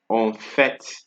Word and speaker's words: en fait: En fait. Right? This is an exception for T.